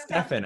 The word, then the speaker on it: Stephan: So is it Stefan or Steven or how do I pronounce Stefan, actually. Stefan?